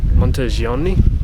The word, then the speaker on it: Monteriggioni: small town however even look at it of monteriggioni I think is how it's pronounced so we're just having a wander around